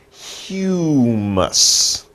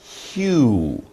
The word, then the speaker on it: humus: It's humus. Humus. Two sounds. Humus. Humus. So we say humus.